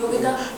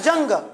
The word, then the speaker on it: Jung: तो भैया कहूँगा जैसे एक भैया युंग है, तो युंग स्पेलिंग क्या होती है? JUNG। तो उसको लिखा होता पेपर में जंग, क्या लिखा होता है? जंग।